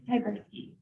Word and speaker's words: Tyberski: It's Tyberski. Say it one more time.